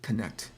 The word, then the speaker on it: Canete: Also, it's pronounced Canete.